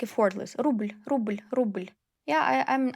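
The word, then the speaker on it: рубль: zhizn zhizn rubl rubl First time when you start pronouncing consonants soft with soft sign, you can highlight them like rubl, rubl. Like you make more effort to make it soft.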